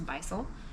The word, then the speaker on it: Bisol: so i'm gonna say i want to say beastly but that's not right it's bisol so we oh no